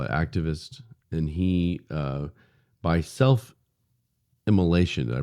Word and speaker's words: self-immolation: whatever you want to call it, activist, and he, by self-immolation, did I pronounce that correctly?